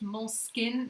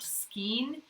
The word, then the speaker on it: Moleskine: But isn't it Moleskine, not Skeen?